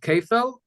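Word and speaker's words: כפל: It's basically called kefel and dalid v'hei. That's the way it's pronounced.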